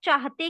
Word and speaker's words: चाहते: Mostly बच्चे लोग चाहते की जगह पर ते लिखते, चाहते लिखते। एक्चुअली हम ह को क्लियरली उसका उच्चारण ही नहीं करते, इसलिए जब वाइल राइटिंग हम ह ये लिखते ही नहीं है।